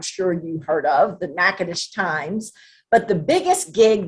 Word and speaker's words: Natchitoches: my teenage years in Natchitoches. And yes, that's how you say it. I know it looks like Natchitoches.